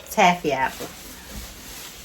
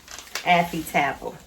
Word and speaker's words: Affy Tapple: We call them taffy apple. But it said, what it say? It say Affy Tapple. Girl, we've been saying it wrong for the longest.